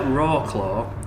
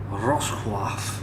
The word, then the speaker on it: Wrocław: Looks like Wrocław, but it's actually pronounced something more like Wrocław. Yeah. That sounded really good. cool. Say that. Wrocław.